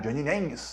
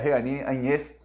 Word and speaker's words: Jeanine Áñez: Pois bem, ele fala o nome dela, pronuncia da maneira como os americanos ensinaram, Jeanine Áñez. O nome dela é Jeanine Áñez.